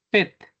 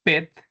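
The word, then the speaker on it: PhET: que se llaman así simuladores Pet como se escribe p h e t Pet y hay de química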